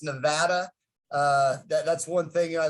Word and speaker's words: Nevada: to correct you on one thing it's actually pronounced nevada uh that's one thing i lived in nevada